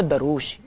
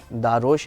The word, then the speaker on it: Darosh: नाम है दारोश या दरोश, पहले तो आप मुझे बताएं, मुझे प्रोनाउंसिएशन नहीं पता। अच्छा, इसकी प्रोनाउंसिएशन वैसे दारोश है, बट क्योंकि स्पेलिंग दरोश लगती है तो most of the people call me दरोश।